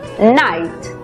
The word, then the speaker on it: night: En la palabra noche, por ejemplo, que se escribe, vemos que la GH es muda. La I toma su sonido abierto. Por lo tanto, la pronunciación es night.